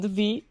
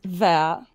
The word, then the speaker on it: Vea: by the way, it's not V, it's Ver. Ver? It's pronounced Ver.